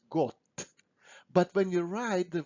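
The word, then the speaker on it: год: god god means year so we pronounce it like we say t at the end got but when you write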